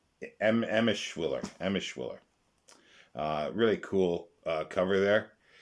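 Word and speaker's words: Emshwiller: Now we go to Robert Silverberg and Ed Eschmiller. Pronunciation Emischwiller.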